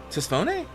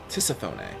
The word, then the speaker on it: Tisiphone: Tisphone? Tisiphone. Yeah, we're lining up. We pronounce everything here.